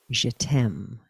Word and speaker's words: GTEM: hear uh to participate in je tem as we as we love the acronym which is spelled gtem but of course in french it means i love you and it's so great